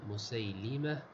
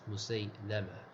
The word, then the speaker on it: مسيلمة: So the correct pronunciation of this name is بكسر لام مسيلمة and not مسيلمة.